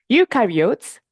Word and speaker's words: eukaryote: Ukarotes think about what it rhymes with. You and what are we?